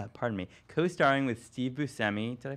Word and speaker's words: Buscemi: series he's co-stars pardon me co-starring with Steve Buscemi did I pronounce it correctly yeah yeah Steve Buscemi is playing God Daniel Radcliffe is playing one